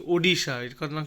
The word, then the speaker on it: Odisha: এই উচ্চারণটা হচ্ছে ওডিশা। বাংলায় বলবো উড়িষ্যা। ওডিশা, ODISHA, ওডিশা।